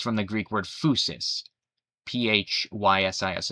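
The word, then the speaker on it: φύσις: Actually, it comes from the Greek word physis, Physis. It's pronounced physis, which literally means nature, right?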